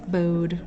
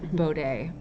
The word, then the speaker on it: Bode: these days um yes bowed with her clothes bode it's actually called it's actually pronounced bow day i i learned that